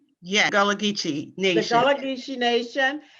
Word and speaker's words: Gullah Geechee: Tonight we're talking to Elder Carlie Towne with the Gullah Geechee Nation from South Carolina.